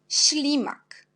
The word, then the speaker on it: ślimak: Par exemple, premièrement, c'est ślimak. On a S avec l'accent, on prononce chi, ślimak.